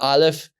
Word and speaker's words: aleph: letter is the Iliff it's called the aleph and it is recognized as a silent letter meaning that we don't say it we use the vowels which we'll learn later on to tell us how to pronounce this letter now when I say